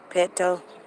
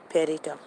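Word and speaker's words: Petito: say her name uh peter petto gabby petto pettito that's how she says her name gabriella gabrielle gabriel peter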